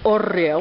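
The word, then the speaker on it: hórreo: This wooden structure here is called an horreo. Horreo, yes. Which is spelled H-O-R-R-E-O, yes, correct?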